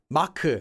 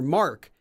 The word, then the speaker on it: Mark: with that name already like Mak for Mark but if what if you wanted to say no my name's not Mak it's mar mar because that sounds more like Mark in English Mar they're